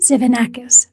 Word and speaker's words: Tzivanakis: Patty baronowski Schneider today I'm joined by Evan zanakis the author of leading in Buca Booka times